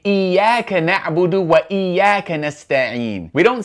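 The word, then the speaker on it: إياك: So, the word iyyaka begins with a cutting hamza. You're always going to pronounce that hamza. We say iyyaka na'budu wa iyyaka nasta'in.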